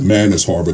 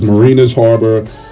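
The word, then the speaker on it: Mariners Harbor: Our areas were, we called it Manus Harbor because we couldn't pronounce anything. But it was Marinas Harbor, it was West Brighton,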